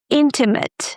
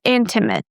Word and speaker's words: intimate: Intimate. Stress the first syllable, in. Intimate.